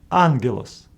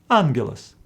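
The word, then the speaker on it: ἄγγελος: pronounce them as gap Greeks came with a solution to pronounce the first gamma as n for example in this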